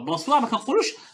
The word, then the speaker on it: bonsoir: La même chose pour bonsoir. Alors, bonsoir, bonsoir. Alors, on ne doit pas entendre N. Bonsoir. Bonsoir. Parce que ON se prononce en, est un seul son.